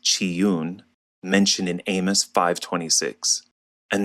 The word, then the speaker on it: Chiun: If we do a little digging, we can find that Reman is another name for the god Caillun, pronounced Chiune, mentioned in Amos 5:26.